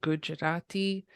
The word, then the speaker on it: Gujarati: And personally, I feel like I'm putting an extra syllable when I say Gujarati, and I'm trying to speed it up.